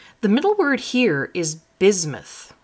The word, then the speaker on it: bismuth: The middle word here is bismuth. So the S is kind of pronounced like a Z.